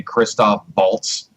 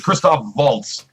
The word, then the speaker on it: Christoph Waltz: a movie show and you say Christoph bolts why I'm just I yeah you be the thing you look like you almost corrected James it's christoph waltz hey I don't care